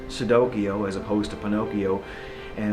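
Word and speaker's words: Cicidokio: children's fairy tales like sudokiyo as opposed to pinocchio and instead of and not it's spelt c-i-c-i-d-o-k-i-o even though it's pronounced like with an s but it's actually with the c and it's it's like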